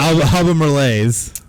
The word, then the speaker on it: Albemarle: Albemarle's. Albemarle's? Yeah. Is that how you pronounce that?